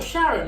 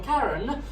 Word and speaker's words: Charon: But they pronounce it differently. So Sharon or Karen, they have definitely Star